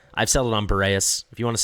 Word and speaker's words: Boreas: I've settled on Boreas.